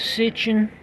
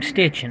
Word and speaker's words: Sitchin: know that Zachariah is sitching I've been saying his name stitching I like to say Stitch you know I know I'm pronouncing it wrong but see his name